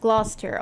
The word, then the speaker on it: Gloucester: Oh, we have a region in Ottawa named that, and it's pronounced Gloucester.